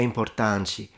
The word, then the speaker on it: importante: O verde é importante. Yes, I think I was right. So the T is pronounced like a ch because she says importante. And in Italian it's importante.